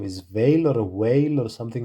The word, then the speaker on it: Weil: Her name is pronounced roughly Simone Weil in French. Veil sounds like vey with a soft V, not while or veal.